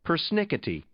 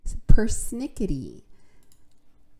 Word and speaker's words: persnickety: Persnickety. Persnickety.